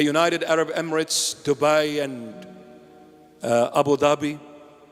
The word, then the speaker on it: Abu Dhabi: Arab Emirates, Dubai, and Abu Dhabi. In Arabic, it's Abu Dhabi. Abu Dhabi. Not Abu Dhabi. That's the Arabic pronunciation, Dhabi.